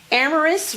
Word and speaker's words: Ameras: I have in the studio here at Femme Fitale with me today Ameras, which rhymes with glamorous, and she is the creator of Gym Hair.